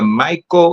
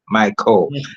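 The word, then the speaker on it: Mico: An accomplished educator, Reverend Reed holds a bachelor of education from the Mo University College. Let me pronounce it again. the MCO University College, Bachelor of Theology with a minor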